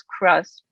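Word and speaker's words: CHRUSP: moderator today the center which we abbreviate as c-h-r-u-s-p and pronounce as crust is sponsoring this event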